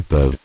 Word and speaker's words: peuvent: Ils peuvent. Ils peuvent. Elles peuvent. Elles peuvent. Usually the final E, N, T. are not pronounced.